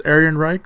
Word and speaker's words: Ehrenreich: Again, I've heard his name being pronounced another way, but I first heard it pronounced as Ehrenreich, so I'm just going to say Ehrenreich.